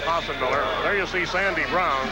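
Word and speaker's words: Breum: There you see Sandy Brown. Spells it B-R-E-U-M. Pronounces it Brown.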